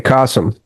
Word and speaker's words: Kasim: So, uh, Cassim, am I pronouncing it right? Cassim, it's like awesome with a K. Kasum.